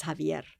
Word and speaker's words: Javier: His name is Javier." Yeah, a lot of people don't know the X in Spanish is pronounced like a J.